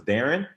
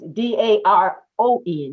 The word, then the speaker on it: Daron: You said that was Darren? Yeah. Okay. It's Daron. That's why I had to confirm the pronunciation.